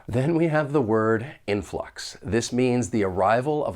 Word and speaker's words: influx: it may not survive when pronouncing this word there are two syllables the stress is on that first syllable but one thing I